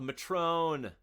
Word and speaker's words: Matron: So I think you can just grab any Goblin with a Matrone. It is Matron.